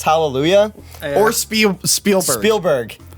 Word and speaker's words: Spielberg: pronounce hallelujah or sp spielberg he says spielsberg he got and i